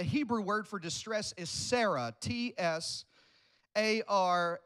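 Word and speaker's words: צרה: Sarah ts AR H Sarah I want you to write this above that word distress right there T SAR a H and this is pronounced Sarah it's got a silent T because T's are ooh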